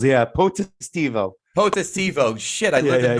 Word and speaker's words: Potestivo: It's 4 syllables. Yeah, Potestivo.